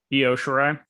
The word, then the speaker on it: Io Shirai: Io Shirai. Yep. I will say yes. You're right on that pronunciation.